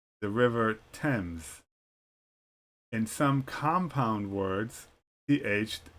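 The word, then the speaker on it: Thames: pronounced as t such as Thomas the river temps in some compound words th is pronounced separately as T and then H such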